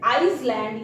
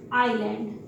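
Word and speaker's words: island: अब हम S को साइलेंट कहाँ देखते हैं, आइलैंड, एक सिंगल वर्ड है मेरे पास आइलैंड, इसे आइसलैंड या इजलैंड मत पढ़िएगा, दैट इज कॉल्ड आइलैंड।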